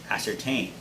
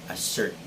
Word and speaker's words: ascertain: ascertained which means that the stress should be on the third syllable so guys repeat after me ascertain and it's not a certain are we good so